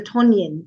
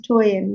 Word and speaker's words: Toyin: In Ghana, people want to say Tonyin because there is a Tonyin in Ghanaian. Oh. But I have to correct them. I say, no, it's Toyin. The ends are the other way around.